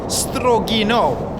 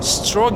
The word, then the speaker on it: Strogino: one two strong an apologies for the mispronunciation of this place according to the loud speaker on the train it's actually called strogino and not strong you know as i